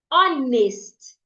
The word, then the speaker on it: honest: Honest. It's not honest. It's not nest. It's nest. Honest. Honest. The honest man came to my home. The honest man. The H in honest is silent.